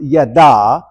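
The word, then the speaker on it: ידע: the word for chosen in Hebrew which is pronounced yada which I know does not really help matters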